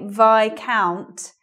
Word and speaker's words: viscount: But we say Viscount, even though it's vis here.